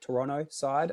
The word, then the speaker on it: Toronto: Um played through at a Toronto side or sorry Toronto side I think is the correct pronunciation there. Not supposed to pronounce the T I've been told.